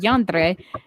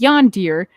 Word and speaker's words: yandere: difficulty pronouncing the word yandere the most common mispronunciation is yonder leading to many to